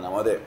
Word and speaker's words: Lamothe: No, con la mote no, pero con la mot. Si vos decís la mot, lo pronunciás bien.